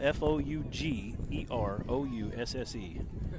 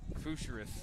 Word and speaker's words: Fougerousse: Spelled f o u g e r o u s s e. Is that French, maybe? Got to be. I can't describe How do you say it again? Fougerousse.